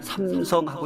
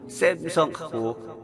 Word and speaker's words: 삼성: A는요, 사실 발음이 아가 없어요. 그래서 우리가 많이 들은 게 삼성인데, 이 삼성, 우리는 삼성하고 읽을 줄 알아요. 그게 미국 친구들 아 발음이 없어요. 이상하게 해서 샘성이에요. 그래서 뱅뱅, 그죠? 빵빵 안 돼요. 뱅뱅. 그래서 근데 우리는 이상하게 삼성이란 말이 되면서도 샘성하고 발음하는 친구들 많이 봅니다. 그러지 않아도 돼요. 우리는 삼성이라고 얘기하면 돼요.